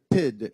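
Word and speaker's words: pyt: in the room with the word PID. It's spelled P-Y-T in the Danish language.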